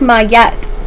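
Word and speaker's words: Maat: It says pronounced Mayat. May.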